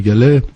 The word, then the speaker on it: Gallez: Alors donc, Père Gallet, ça s'écrit G-A-2-L-E-Z.